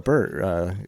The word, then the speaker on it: Peart: And of course we lost Neil Peart a couple years ago. Yep. Or Peter, as I think is the way the Canadians properly pronounce that.